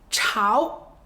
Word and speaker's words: 朝: 太阳书面语就是朝阳，朝阳。今天书面语就是今朝，今朝。第二个发音朝，朝，比如朝代，